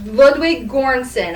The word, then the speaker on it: Ludwig Göransson: Ludwig Göransson, I believe is how you say the composer's name.